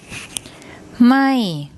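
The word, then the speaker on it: ไม่: Okay, this is one of the short I vowels, which is written before the consonant, then the more ma m initial consonant, and the first tone mark. ไ ม ่ ไ ม ่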